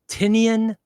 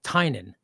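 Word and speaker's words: Tynion: bothered a lot, but is it Tinian or Tinian or how do you pronounce it? He goes, "It's James Tinen." He goes, "It's it's Irish." He goes, "So, it's just Tinen."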